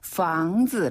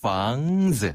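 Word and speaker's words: 房子: 이 아랫입술을 힘을 조금 주고 윗니에다가 아랫입술을 살짝 대면서 房子. 아, 윗니에다가 아랫입술을 대면서 房子.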